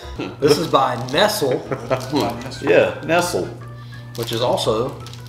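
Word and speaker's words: Nestlé: know, we've established that my mom had instilled in me my entire life the wrong way to pronounce the word Nestle. I was brought up with it being called Nestle, and just... The one episode that we did on here, and I called it Real.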